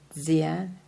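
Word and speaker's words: Dzyan: Let me spell it. D-Z-A, no. Let me start over. Capital D-Z-Y-A-N. Zian.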